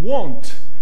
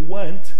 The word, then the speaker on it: won't: Então, will not vai ficar won't. Cuidado com a pronúncia. Não fale want, que é querer. Won't. Will not, contraído, fica won't.